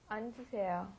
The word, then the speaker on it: 앉으세요: Because it's got the double 받침 there. So you've got to go 안, and then the J sound comes up, 앉으세요.